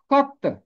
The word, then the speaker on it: خط: ہوا، نوشتہ، نامہ، خط۔ اس کا درست تلفظ ہے خط۔ خے کے اوپر زبر ہے، توئے کے اوپر تشدید ہے۔ تشدید کا مطلب ہوتا ہے کہ یہ حرف دو دفعہ ہے۔ خط جیسے ہے رد،